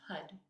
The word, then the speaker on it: Har: and it's actually pronounced HUD so it's going to sound more like an h-u-d and as you pronounce it you kind of tap the tongue from the roof of your mouth and with the Korea